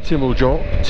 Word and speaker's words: Timmelsjoch: So we've done the Timmelsjoch, correct pronunciation apparently.